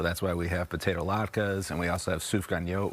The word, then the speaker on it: latke: But what is the key here to the good latke? That's the correct pronunciation?